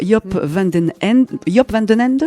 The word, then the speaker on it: Joop van den Ende: Alors sans le savoir, on connaît bien son créateur, Joop van den Ende, c'est comme ça qu'on prononce?